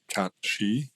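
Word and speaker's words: Cait Sith: when we were kids we just we read it as is and it was cap Sith but then there's the traditional mythological pronunciation which is more like cat she I believe cat she something like that uh and it's interesting that they went with Kate Sith um it's because it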